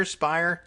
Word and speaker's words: Speier: adjudicating the charges representative Jackies we've forgotten the pronunciation Speier Speier damn I'll never get this right now and